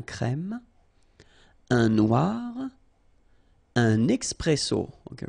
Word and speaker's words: crème: Un serveur, une table, une terrasse de café, un crème, remember, E accent grave, un crème, un noir, un expresso.